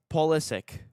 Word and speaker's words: Pulisic: How do you think they pronounce Pulisic? Pulisic? You're yeah, that's pretty spot on. It's Pulisic.